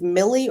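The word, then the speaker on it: Mellie: um melly's name was I didn't know if it was Millie or Melly because everybody pronounced it differently and then I finally looked it up and it was Melly and then I also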